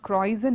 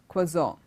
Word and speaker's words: croissant: might see the word it's not croizon it's close on okay and then the